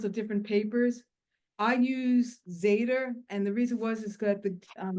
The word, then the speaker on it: Zeta: How do you How do you spell that? Is that Z Z A D E R? The company's name? Yeah, Zeta.